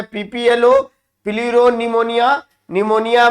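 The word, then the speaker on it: pneumonia: व्हो believe own निमोनिया निमोनिया में फिर silent है प्लेयर और निमोनिया लाइक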